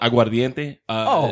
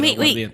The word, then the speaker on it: aguardiente: Yeah, but you said it wrong. You just said like you're cooking pasta No, al I dente. didn't. Aguardiente. There's an I in there.